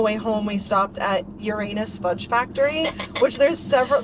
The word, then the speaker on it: Uranus: these people's podcasts and apparently you are supposed to pronounce it um Uranus. Yeah, I've heard that. I didn't know that until then. I literally thought it was just Uranus for as long as I was better.